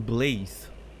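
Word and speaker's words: Blaidd: He pronounced his name Blathe, not Blade, but Blathe. I think it's another Irish thing, maybe.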